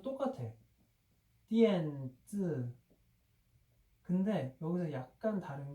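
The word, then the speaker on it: 电子: 그 중국 발음도 똑같아. 띠엔즈.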